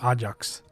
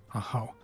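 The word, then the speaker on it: Ajaw: now to worry about is that how you pronounce it I thought I said ax or Ajax AA a how I need to remember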